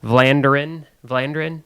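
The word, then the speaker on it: Vlaanderen: So this Glenn Coldenhoff, then you had Jeffrey Hurlings, and then Calvin, his last name is very hard to say, Vlanderen, I believe is how you say it.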